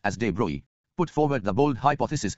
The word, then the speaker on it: de Broglie: French physicist Louis-Victor de Broglie, pronounced as de Broglie, put forward the bold hypothesis that moving particles of matter should display wave-like properties under suitable conditions.